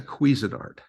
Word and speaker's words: Cuisinart: But Cuisinart.